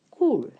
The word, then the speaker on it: கூழ்: கூழ் சொல்லில் இருப்பது என்ன கூழ் இந்த கூழ் ள் தான் நீங்க வடிவா உச்சரிக்க பழக வேண்டும் சரியோ இப்ப இன்னொரு சொல்லு